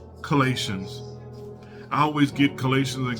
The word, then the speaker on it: Colossians: Is this word pronounced Colossians? Colossians. Colossians.